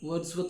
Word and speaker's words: Wadsworth: A reminder, Wadsworth is pronounced Wadsworth.